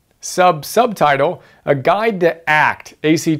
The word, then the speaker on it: ACT: acceptance and commitment therapy AC T pronounced act it's a really cool